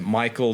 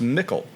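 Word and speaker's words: Michel: I've always thought in my head Michael Delving cuz it looks like Michael so I looked it up on the internet and uh people are saying and I believe this that it should be pronounced Mikl because appar name in England that's used it comes from old English mikl which means big great strong so the big delving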